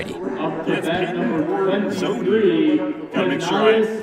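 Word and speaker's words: Brzozowy: Hey, batter number one, Sozzi. And if you can spell that out correctly, it's b r z o z o w y. Sozzi is the pronunciation we're given.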